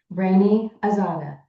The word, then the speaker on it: Raney Azada: How we pronounce correctly your name? Raney Azada.